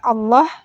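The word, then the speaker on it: الله: di mushaf Madinah ini lafadz Allah nya Hai itu pada lamjalalah hanya Hai bertanda fathah pendek Hai tidak ditulis Fatah panjang tapi tetap Ayo kita harus membacanya dengan lafadz Allah yang dibaca panjang dua harakat selalu masih di ayat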